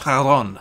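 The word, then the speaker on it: Charon: Fairman of Hades in Greek mythology which is pronounced Haron so har a combat knife with a damage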